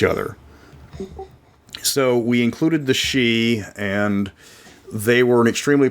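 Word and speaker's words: Sidhe: I wanted to include the she s d h e I have to spell that out because people don't understand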